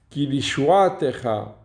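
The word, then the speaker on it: כִּי לִישׁוּעָתְךָ: Alors que le deuxième, kilishuatecha, c'est en ton salut que nous espérons tout le jour. Et là, l'accent tonique n'est pas sur le tav, parce que le tav, il y a un shva. Et il n'y a jamais d'accent tonique au niveau d'une lettre voyellée d'un shva.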